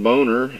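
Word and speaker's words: Boehner: their wallets of course John boner leading the house yes that's how it is really pronounced but he doesn't like it pronounced that way I think boner certainly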